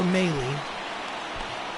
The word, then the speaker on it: Mahle: So we'll warm up Drew Pomerantz, and we'll warm up Tyler Mahle. That's how it's even pronounced.